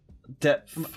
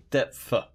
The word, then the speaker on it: depth: So if you're going into depth, depth. Am I pronouncing it right? Depth. Yeah. Oh. Depth. Depth. But you don't say "f."